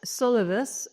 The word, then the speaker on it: Solivus: you're trying to solve and also have I pronounced the name correctly yeah it's solvus I wish it's on i' wish I'd call